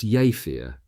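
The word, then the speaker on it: Jever: Present were the Iben's two daughters, both of whom attended high school in Java, pronounced Yafir, the district capital 16 km west northwest of Wilhelm's Haraven.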